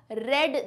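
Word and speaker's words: read: translation है I have रेड this book रीड का पस्त टेंस यही होता है स्पेलिंग में कोई चेंज नहीं आएगा सिर्फ प्रनंसीएशन उच्चारण में चेंज आएगा इससे मैं कहूंगी रीड और इसे मैं कहूंगी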